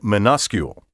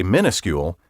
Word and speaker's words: minuscule: spell the word properly there is no mini in minuscule and even if you choose to say minuscule for goodness sake remember